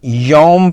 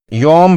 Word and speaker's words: یوم: ادا کیا جائے گا۔ اسے معروف لہجے میں یوم پڑھیں گے، کچھ لوگ اسے اردو یا فارسی لہجے میں مجہول طرز پر یوم پڑھتے ہیں، جو کہ غلط ہے۔ اس کا درست لفظ یوم ہے۔ یہاں یومئذ کی تنوین